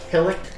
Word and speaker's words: hillock: Hillock? A hillock. Yes. Well, it's a little bit larger than a hillock.